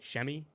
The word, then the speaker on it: Semi: absolutely hated semi and I'm gonna call him Sammy I'm sorry I can't say chamois if you